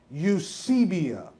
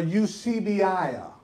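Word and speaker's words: εὐσέβεια: Now, the word godliness in the Greek here is a Greek word pronounced the best I could pronounce it. I'm not a Greek scholar. Is Eusebia or Eusebia, right? Now, Y-O-O-S-E-B-I-A-H is the pronunciation of that.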